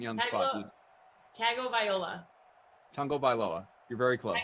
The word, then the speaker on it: Tagovailoa: Tagovailoa. Tagovailoa. You're very close. Tagovailoa, right?